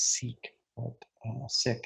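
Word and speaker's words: Sikh: the founder of the sick religion many people referred to by the way as sick is one of the pronunciations so that's that that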